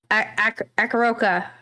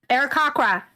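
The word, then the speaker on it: Aarakocra: Hello, my character is Clali, the Akaroka. Is that the right way to say it? I always add Arakakra. See, I always add extra letters in there.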